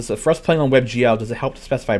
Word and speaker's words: WebGL: just a browser um you pronounce that webgl yeah i feel silly i always call it web goal web goal yeah um but like it feels like i'm the one who's inaccurate there yeah you know it's